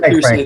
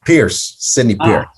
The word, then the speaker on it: Pierce: renowned expert in the field of advertising mr pearson thank you so much for joining us it's actually pronounced pierce pierce make note of that excellent so